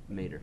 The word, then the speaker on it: Mater: And how do you pronounce that? Mater.